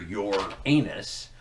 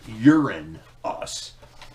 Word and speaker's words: Uranus: avoid the whole thing no matter how you pronounce that you're in trouble because it's either your anus or urine us and so either way